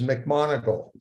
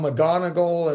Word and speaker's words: McMonagle: but I tell you the epitome of the name that gets butchered more than any that I've ever known is is mcmonagle it's just so funny people uh call him John McGonagall and they just all these deviations of of mcmonagle and it's just it's